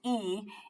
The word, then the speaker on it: y: You might have to add one word, and that's and, which is the letter Y in Spanish, pronounced E, if you need it to make the sentence make sense.